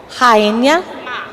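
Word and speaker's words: Rainha Má: It's Rainha Rainha Ma.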